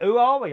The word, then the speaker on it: Huawei: Huawei. Who are we? Who are we? Who are we? That's how you say it.